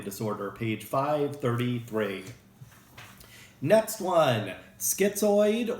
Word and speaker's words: schizoid: Next one, schizoid, or some people pronounce it schizoid, like orange or orange. Different ways to pronounce it.